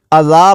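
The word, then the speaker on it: إِذًا: ہے، مد کرتے ہوئے اذا، جب وقف کریں گے تو اذان کو اذا پڑھیں گے، اذان سے اذا پڑھیں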